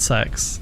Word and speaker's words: CX: It's officially confirmed. It is pronounced sex.